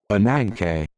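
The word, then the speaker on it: Ananke: How do you pronounce it? Anank.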